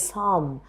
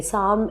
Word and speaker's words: psalm: Another such example is psalm. Okay, psalm in you have the letter P in the beginning, but it is not voiced. We do not pronounce P in the beginning of psalm.